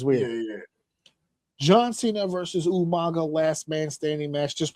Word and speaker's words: Umaga: with the man himself, John Cena versus Umaga, or as Will Rodriguez would say, Umanga. Umanga. Umanga. Did he really say that? He did. He like also unironically, like he just couldn't say it right.